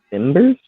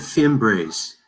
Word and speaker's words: Fimbres: Louis Plung, Veronica Timbers. Is that how you pronounce that one? She said Fimbres.